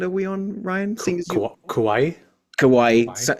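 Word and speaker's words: Kauai: we on Ryan kawaii kawaii rhymes with Hawaii um and they sort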